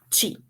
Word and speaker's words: qi: energia que o energia TIM tá a pronúncia certa é ti mas ela se escreve dessas duas formas o QI ou o chi então a medicina tradicional